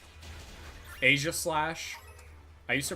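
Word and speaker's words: Aegislash: I used to pronounce Asia Slash as Asia Slash instead of Asia Slash because I think it's supposed to be Asia Slash because of like the Asia shield. Like that's the lore.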